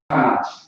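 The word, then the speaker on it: חמש: It's like a Kamash, Kamash, because it's two A's. Kamash is how you say it.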